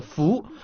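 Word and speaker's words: 蝠: Elles symbolisent 5 bonheurs, car en chinois, le mot chauve-souris se prononce fou, comme le mot bonheur.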